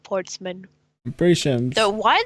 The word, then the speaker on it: Portsman: You keep saying Portman instead of Portsman.